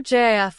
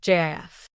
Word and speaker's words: GIF: Is a GIF with a hard G like gift or JIF with a soft G like the peanut butter? The creator of the format, Steve Wilhight, famously declared it to be JIF.